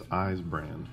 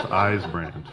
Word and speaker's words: Eisbrand: If you didn't know how to say it, it's Eisbrand. Julia, get that right, because it's Eisbrand.